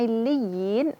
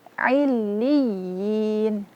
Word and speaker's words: illiyin: Nah, di tasydid ini harus meninggikan sedikit suara. Namanya nabrah. Jadi illiyin, jangan illiyin, datar saja. Kenapa? Karena di situ ada namanya nabrah. Mengangkat sedikit suara ketika membaca tasydid.